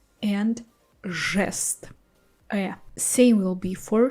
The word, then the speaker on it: жест: After the letters zh, sh, c, we pronounce our I, ye, yo harder. So we replace them with their hard pair I, e, o. Like this we will have жить, желтый, жест. You see, жи, I'm not saying I, soft I, I'm saying I.